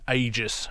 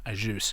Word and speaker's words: Agius: And whilst there, he actually anglicised his surname, or at least the pronunciation, to Agius rather than Agius.